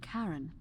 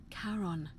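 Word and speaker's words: Charon: it's just as you described it only your pronunciation is a little off the name you heard wasn't Karen it was c h a r oh oh yeah as in karon the Fairman of the Dead karon who in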